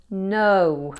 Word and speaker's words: know: Next was no. I can know. No has a silent K at the beginning. Now, if a word begins with K and then N, it's common for that K to be silent.